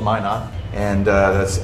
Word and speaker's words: Minot: uh so uh we're called Min not and uh that's m n o t it's frequently mispronounced uh because nobody knows what Min not